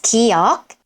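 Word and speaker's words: 기역: At the beginning of the syllable, it sounds most like g in go, but go lighter. K, k. It might sound like k at some point, but it's not k, it's k, k.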